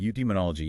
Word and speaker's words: eudaimonology: It's more like Schopenhauer looking at eudaimonology. Is that how you say it? Eudemonology, yeah.